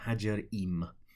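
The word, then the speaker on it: Ħaġar Qim: on, A-R, new word, Q, which I'm reliably informed is silent, I-M for mother, Hajar-Im.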